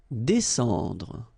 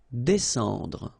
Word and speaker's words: descendre: Descendre. Well, even if you've got this combination of S and C here, you just pronounce it S. Descendre.